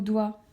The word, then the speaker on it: doigt: Pour le mot doigt, la lettre G n'aura pas d'utilité, mais par contre, la lettre T, oui.